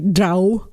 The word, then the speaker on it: drow: Um or again I know that the official like pronunciation should be drow like cow and exactly that's what I don't like the for me it's draw.